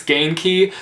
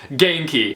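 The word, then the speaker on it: Ganke: best friend's name, and I believe it's Genki, so I hope that I'm saying that correctly. I looked up the pronunciation, and that's the pronunciation that I was given, so Genki.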